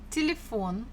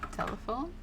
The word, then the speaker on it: телефон: The stress falls on or the last syllable, phone, телефон, телефон. So if it was falling on the first one, it would have sounded as telephone, telephone. But we pronounce this телефон, телефон. So it should be on the O.